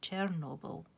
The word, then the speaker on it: Chernobyl: The Russians say Chernobyl, and the Ukrainians say Chornobyl.